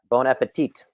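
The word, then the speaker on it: bon appétit: My wife speaks French, and anytime I pronounce like bon appetit, she's like, no, you don't say the T at the end.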